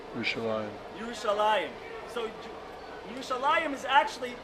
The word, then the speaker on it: Yerushalayim: How do you say Jerusalem in Hebrew? Yerushalayim.